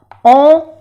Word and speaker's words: ont: On, no se pronuncia la T.